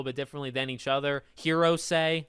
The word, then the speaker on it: Hirose: Hirose, the older man, I'm pretty sure that's how you say his name, although some characters will shorten it.